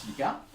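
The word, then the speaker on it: Tiliqua: Donc ça s'écrit avec Q-U-A, mais ça se prononce Tiliqa.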